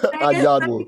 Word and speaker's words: Anyanwu: how do you pronounce your last name again? Anyanwu.